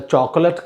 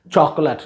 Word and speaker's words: chocolate: impression was it a chocolate cake also please notice the pronunciation of this word chocolate not chocolate chocolate was it a